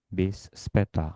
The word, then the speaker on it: bis später: Ya, akhiran 'er' tidak dibaca dengan jelas, seharusnya * bis später*.